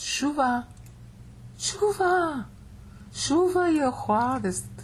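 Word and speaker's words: שׁוּבָה: And it's pronounced shuva.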